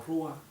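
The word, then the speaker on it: רוח: recio Resulta ser que la palabra viento en el hebreo se pronuncia como rúa Este término rúa es lo que también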